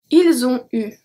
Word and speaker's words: ils ont eu: Ils ont eu. Elles ont eu. The T are not pronounced, and then we have a link between each. So, ils ont eu, elles ont eu.